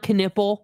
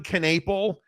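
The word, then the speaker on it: Knueppel: and uh yeah in please say dude's name right KH canle that's how you say his name that's how he clarified I don't know what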